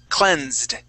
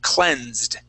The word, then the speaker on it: cleansed: Okay, now with this S, that is a Z sound. Okay, so instead of having a T sound, okay, like experienced, because that's ending as an S sound, all right? That's why it sounds like a T. Here, this S is acting like a Z sound, so we're going to have a D ending. So the word is cleansed.